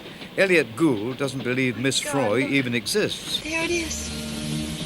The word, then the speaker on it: Froy: frail English governess, Miss Froy. As played by Dame May Whitty in The Lady Vanishes in 1935, how could Margaret Lockwood possibly guess the truth? Sorry, I can't hear. Oh, it rhymes with joy.